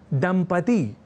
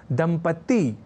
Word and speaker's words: दंपति: देखकर समझ सकते हैं दंपति इस शब्द को लिखने और उच्चारण के क्रम में लोग दंपति ति या दंपत्ति जैसे प्रयोग कर दिया करते हैं